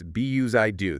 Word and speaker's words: BUSYDO: Busy do. How's that pronounced again? It's be I do. Think of it like busy doing things.